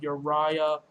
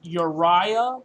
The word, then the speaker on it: Uriah: and by the way that's how you accurately pronounce their names it's not Haman it's not you know Ravi L and it's not your Raya its Uriah Lord of searing flames